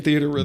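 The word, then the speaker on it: Theatrhythm: have the music in theater Rhythm the at Rhythm the the Rhythm the is there a right way to say it it's theater rhythm is it just theater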